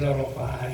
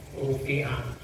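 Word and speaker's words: رُفِعَ: qabri azab kubur J rafaah itu bagusnya dibacanya rufiah kalau dibaca rafaa itu kurang tempat Enggak failnya siapa karena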